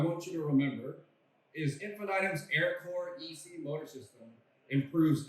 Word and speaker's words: Infinitum: one thing I want you to remember is Infinitum's Aircore EC motor system improves energy efficiency, reliability, and provides much needed versatility to your product applications and systems. So Infinitum, I think it's important to pronounce that a couple times.